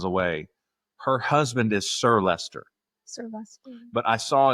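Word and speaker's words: Leicester: Uh, I just wanted to confirm Adam is correct about the pronunciation of Lester.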